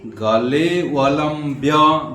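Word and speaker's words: गलेऽवलम्ब्य: गल जल प्रवाह पाले गले वलंब्य गले ले में आधा एस जैसे लिखा है उसको खंडकार बोलते हैं उसका उच्चारण नहीं होता है लेकिन एककार को थोड़ा सा लंबा करना है गले वम व लंब्यम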